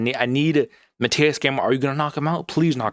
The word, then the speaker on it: Mateusz Gamrot: Mateusz Mateusz Gamrot.